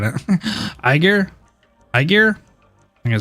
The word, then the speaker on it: Aegir: to protect a dangerous Agger citizen? If so, you'll become a criminal the same as her. Aegir? Oh, is Aegir? Oh, I've been saying it wrong. Aegir.